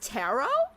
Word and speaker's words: tarot: It's pronounced tarot. Gwen, I've been saying tarot. Is it not terret?